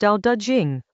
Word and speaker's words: Dao De Jing: Dao De Jing, pronounced Dao De Jing, with Dao rhyming with now.